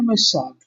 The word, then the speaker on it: Machado: Portugal have Julia Machado as the artist. I probably butchered that. Blue, say it correctly. Julia Machado.